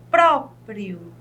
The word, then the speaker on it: próprio: Vejam bem, a palavra próprio, nós temos aqui o pró bem aberto, com acento agudo, próprio.